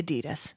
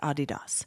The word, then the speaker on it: Adidas: was all about the Adidas and I told you guys that Asher used to pronounce it adidos which is my favorite thing yeah adidos